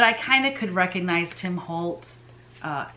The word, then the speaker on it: Tim Holtz: a wholesale account with tim holt because tim holtz i keep saying his name wrong uh because i use